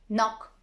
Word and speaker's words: knock: A K is not pronounced when it comes before an N, like knife, no, knee, knock, not.